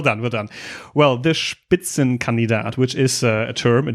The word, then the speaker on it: Spitzenkandidat: Vic I have to say first you already pronounced the word spitzen canat very well I I see you you I